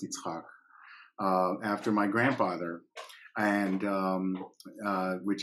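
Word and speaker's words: יצחק: So I was actually named Isaac, which in Hebrew is pronounced Yitzhak, after my grandfather, and which is the tradition.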